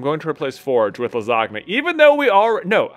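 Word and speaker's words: Lizagna: How about Lizogna? L-I-Z-A-G-N-A. Just like right classic lasagna spelling? No, it's spelled Lizogna. L-I-Z-A-G-N-A.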